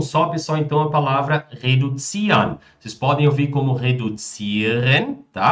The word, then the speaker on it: reduzieren: Ou seja, já tem uma pronúncia mais reduzieren, né? Ou seja, com esse R puxado.